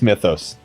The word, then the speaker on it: Mythos: I've made the decision. I'm drawing a line. It's Mythos. Take that.